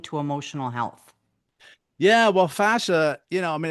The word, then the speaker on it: fascia: Because I'm not, is it that I'm pronouncing it correctly? Yeah. It's fascia, right? Fascia, Yeah.